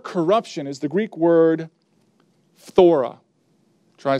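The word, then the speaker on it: φθορά: now that word corruption is the Greek word thora try saying that one Fedora like here's how it's spelled P H th o ra thora and what it means is used nine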